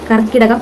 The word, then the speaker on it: കർക്കടകം: നമസ്തേ അപ്പൊ കർക്കിടക മാസം ആരംഭമായി കർക്കിടകം തെറ്റല്ലേ കർക്കിടകം അല്ല കർക്കിടകം എന്നാണ് അതിന്റെ ശരിയായ ഉച്ചാരണ രീതി അപ്പൊ ഇത് എന്നെപ്പോലെ തെറ്റിച്ച് കർക്കിടകം എന്ന്